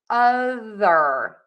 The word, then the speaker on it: other: Number 10, we have the word other, and that is with that voiced TH sound. So for that voiced TH, Your tongue has to be out of your mouth so that air can move over the top of your tongue.